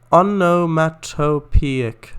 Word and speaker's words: onomatopoeic: Onomatopoeic. Oh, onomatopoeic. Oh, that makes sense. Oh, onomatopoeic. But poetry is spelled like that, and it's pronounced differently.